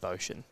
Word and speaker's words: Boschen: He's of German descent. It's Scott Boschen. But when I asked him how to say it, he just said Boschen.